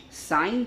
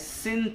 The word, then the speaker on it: sine: Sine theta you can write as sin theta, but kindly pronounced as sine theta only. Don't pronounce at sin theta.